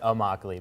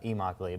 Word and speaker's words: Immokalee: the coalition of the immokalee workers uh which i think i mispronounced that in the in the video by the way but uh i think i said oh mockely but it's it uh emockly but yeah and basically